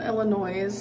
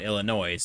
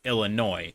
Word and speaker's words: Illinois: Because even I know that it's not Illinois, it's Illinois. It has an S at the end, but it's silent, and the OI is pronounced like boy, so it's Illinois.